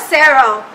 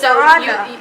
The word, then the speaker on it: Saran: So it's not Sarah. Don't go and pronounce Sarah. It's Saran. It's Saran. So it's French. So it's like Saran in French.